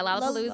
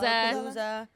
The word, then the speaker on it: Lollapalooza: yeah, Lollapalooza, Lollapalooza.